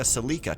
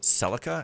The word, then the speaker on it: Celica: to me and also one person must have said Toyota celika to me because that's the way I remembered it being pronounced and only recently I discovered no apparently it's pronounced Celica and nobody in the entire world pronounces it celika my mind was blown